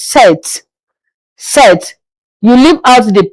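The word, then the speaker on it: sept: In French seven is set.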